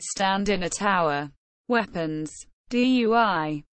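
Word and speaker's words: 錞: Dui, not pronounced dun.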